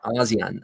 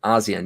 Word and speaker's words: ASEAN: ASEAN. ASEAN, yeah.